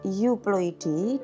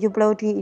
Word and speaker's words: euploidy: Secara garis besar dibagi menjadi dua, ada euploidy dan yang kedua ada aneuploidy. Tulisannya euploidy, bacanya U.